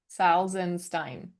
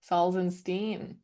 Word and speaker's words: Salzenstein: Okay, so stop with the first syllable. Say it again. Sal. Saul. Sal. Okay. Then what comes after Saul? Zen. Yeah, Saul Zen. Yeah, Saul Zen. Okay, And Salzenstein. then change that. Steen. Salzenstein. Yes.